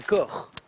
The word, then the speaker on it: Koch: ça fait neuf j'accepte coche sur la commune allemand on va le prononcer corps bien sûr mes cauchemars